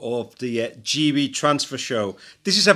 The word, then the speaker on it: Geey: to have Daniel Geey, even though it's spelled G-E-E-Y, it's G how you say his surname, and he'll explain why